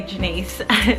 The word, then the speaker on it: Janis: don't know cuz it's it's spelled Janis and pronounce Janet's but I I I say Denise so yeah what does